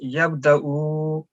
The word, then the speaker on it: يبدأ: I was just asking because this vaw on the top is Hamzah, so we will ignore vaw. This will be just Hamzah sound and yabda'ul khalqa.